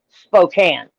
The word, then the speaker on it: Spokane: It's spelled Spokane, but it's pronounced Spokane.